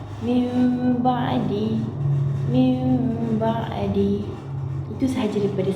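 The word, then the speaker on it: مِنْ بَعْدِ: atas huruf nun dan cara membacanya adalah a dengan mendengungkan dan merapatkan kedua bibir min ba'di.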